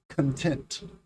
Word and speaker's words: content: the first word content the second word is content content you hear that the emphasis the stress is on the second syllable tent content which is a